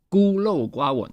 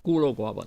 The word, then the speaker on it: 孤陋寡闻: 孤陋寡闻. There we go. 孤陋寡闻.